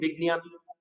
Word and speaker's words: বিজ্ঞান: তাহলে আমরা বলছি বিজ্ঞান, বর্গীয় যোগে গ উচ্চারণ করবো, আর এটাকে ঞকে ঞর মতো উচ্চারণ করবো, বিজ্ঞান জ্ঞান বিজ্ঞান।